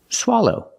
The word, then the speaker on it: swallow: for the first syllable s low the second syllable is a long o like no and go o together swallo swallow example he's sick he has a sore throat